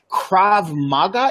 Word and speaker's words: krav maga: so question for you you got involved into krav maga am i pronouncing that correctly yeah it is a very